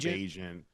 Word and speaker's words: Bagent: Bagent.